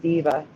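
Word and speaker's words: Deva: It's actually an E there, but it's pronounced diva, so I write an A.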